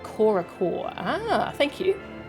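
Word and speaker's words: Corps-a-corps: thanks for watching it's french and it's pronounced something like korachor ah thank you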